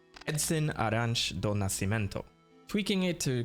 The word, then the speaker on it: Arantes: Pelé's real name, Edson Arantes do Nascimento, tweaking it to create Samus Aran. And though his name is pronounced Arantes, the pronunciation of Samus's surname is confirmed to be Aran.